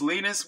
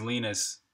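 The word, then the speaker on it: Linus: is Lena thoralds and I pronounced lenux as lenux so I think it is lenus but Conrad Zeus who's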